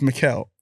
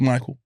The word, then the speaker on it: Mikael: at school and my teachers taught me my name wrong in it oh my passport on my passport on my blab on my birth certificate on everything is mikael but my whole entire childhood i've been called michael whole entire childhood so